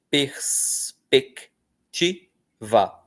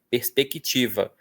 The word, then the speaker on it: perspectiva: Nós pronunciamos como se tivesse um QUI, ok? Perspectiva. Mas do jeito que está escrito, são 4 sílabas só.